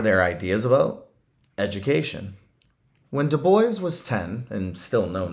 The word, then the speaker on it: Du Bois: side back then w.e.b du bois rhymes with voice and booker t washington